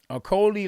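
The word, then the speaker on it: Okolie: So Okolo is holding, and Pezovic, Okoli like my Rolly. Okay, Okoli. There we go. I could just say Rolly. It rhymes with Rolly.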